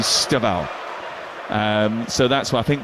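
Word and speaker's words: Estêvão: They tell me that the way you he would pronounce his name would be Staval.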